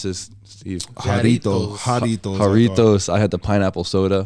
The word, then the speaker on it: Jarritos: How do you pronounce this, Steve? Jarritos.